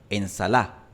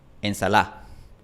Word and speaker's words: ensalada: La pronunciación exacta de esta D varía entre una fricativa, ensalada, una aproximante más suave, ensalada, o puede desaparecer por completo, ensalá. De hecho, en Chile prácticamente nadie pronuncia ensalada. En Chile la gente pronuncia ensalá.